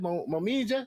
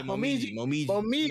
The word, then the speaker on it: Momiji: My boy Momija felt, my man Momiji, how you say it, Momija? Yeah, Momiji.